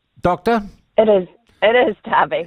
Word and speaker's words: Derby: And it's Darby, Doctor? It is Darby. It's spelled Derby, though.